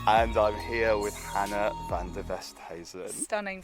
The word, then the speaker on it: Van Der Westhuysen: Welcome to Hollyrood Park on a very, very sunny and hot day, and I'm here with Hannah Van Der Westhuysen. Stunning pronunciation.